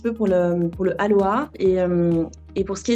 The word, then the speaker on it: Aloa: la contraction de aloe vera donc le mot Aloa c'est la contraction de Aloé et Vera et ça se prononce aussi comme Aloa avec un avec un H donc a l